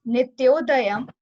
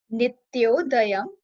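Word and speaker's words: नित्योदयम्: First is Nityodayam. Nityodayam. Nityodayam is made from two words, Nitya plus Udyam.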